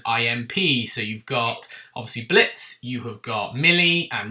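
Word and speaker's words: Blitzø: You know, you've got Blitz or Blitzo, but the O is silent, played by Brandon Rogers, who's a fantastic character.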